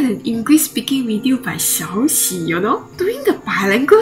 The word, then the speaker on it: Xiaoxi: How did I pronounce it? Xiaoyi? Xiaoxi. Xiaoxi. Yeah, okay, I was close.